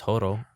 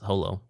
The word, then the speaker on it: Holo: And I mean, his name is it's the same with Spice and Wolf, where in Japanese it's Horo, but the localizers were specifically told that it was Holo, so Yen Press specifically for English.